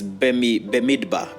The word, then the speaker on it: Bemidbar: It's Bemidbar. Bemidbar. Benidbar. You can say, I think the D is silent.